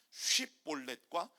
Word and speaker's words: 쉽볼렛: 자, 우리가 너무 잘 아는 쉽볼렛과 십볼렛, 이 언어 테스트를 하는 거예요. 자, 해보세요. 쉽다 할 때 쉽.